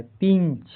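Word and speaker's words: pinch: तो इसका उच्चारण इ होता है। पिंच।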